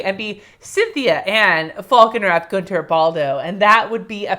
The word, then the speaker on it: Guentert-Baldo: But yes, that's how you pronounce my name, Guentert-Baldo. Like, it's a fast thing.